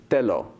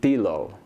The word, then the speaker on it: telo: romanization, I said, okay, that word is telo, and it's pronounced exactly like that. And I didn't think about it, and so I added it into the dictionary like this. And in fact, it had a whole like etymology behind it. It was related to other words. Then we get on set, and they're pronouncing it tilo. And I'm like, are you kidding me? An E pronounced the way like it is in English?